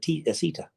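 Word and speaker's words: Asitha: Asita, T-H-A. But the way she pronounces it, Asita, okay? There is a T-H in there.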